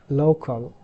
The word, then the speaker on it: local: And this word local, so local market, local airs, that's wrong. So the correct pronunciation is local. So this is low, not lu. Lu and low different.